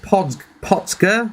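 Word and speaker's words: Potger: Originally set up by Keith Potsker, that's how you pronounce it.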